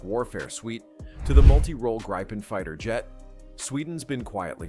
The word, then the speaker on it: Gripen: The Saab JAS 39 Gripen, pronounced Gripen, may not wear a cape, but it sure flies like a superhero.